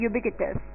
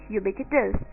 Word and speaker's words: ubiquitous: इसकी pronunciation differ करती है, मतलब जगह टू जगह, पर यहाँ पे मैं यूज कर रही हूँ इसकी प्रोनाउंसिएशन यूबिक्विटस, UBIQUITOUS, यूबिक्विटस, यानी कि बीइंग प्रेजेंट